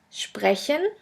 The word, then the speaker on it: sprechen: The next letter combination is SP, SP, ST, ST, which is pronounced like the letter combination SHP and SHT.